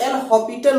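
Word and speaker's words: L'Hôpital: ऐसे कंडीशन में हम इस लिमिट्स की वैल्यू फाइंड करने के लिए एल हॉस्पिटल रूल अप्लाई करते हैं, राइट। इसको कुछ लोग एल हॉपिटल रूल भी बोलते हैं, एल हॉपिटल रूल या लैक्टल रूल भी कुछ लोग बोलते हैं, ठीक है।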